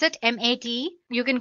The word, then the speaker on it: MATE: can see the machine boots you into the mate desktop environment let me pronounce it M80 you can call it whatever you want mate